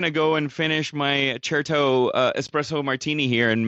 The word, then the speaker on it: Certo: And cherto, that's spelled with a C, c e r t and it's an Italian.